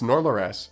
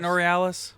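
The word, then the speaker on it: Norleras: no no no no it's nor laurass it's spelled n-o-r-l-e-r-a-s nor laurass I'm putting it on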